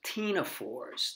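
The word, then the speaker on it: ctenophores: sample today were these Tina fours the C is silent it's not pronounced their common name is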